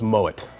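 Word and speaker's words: Moët: the time one is Moet Chandon people come and try to pronounce it Mo because it's French actually the name is a German descent so it's Moet much like Piper heik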